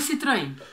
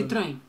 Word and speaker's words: Citroën: Citroën. Citroën. Citroën. Citroën. Citroën. Citroën. Citroën. Citroën. Citroën. Tem que fazer com a mão assim, Citroën. Com a mão assim passando, senão não consegue. Senão não faz.